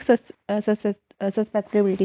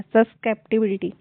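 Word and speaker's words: susceptibility: आगे देखो electric सस्पेक्टिबिलिटी, sorry for the pronunciation. अब इसका क्या होगा, इसका भी 0, ठीक है। कैप्चर करना है, सस्केप्टिबिलिटी इसको बोलेंगे, सस्केप्टिबिलिटी बोलते हैं वैसे तो।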